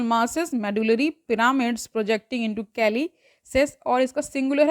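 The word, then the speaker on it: calyces: projections कॉल्ड कैल्सी Kallis Kallis ठीक है इसका प्रोनंसिएशन देख लीजिए कैलिस ही है सी ए एल वाई सी एस इसका स्पेलिंग है द आउटर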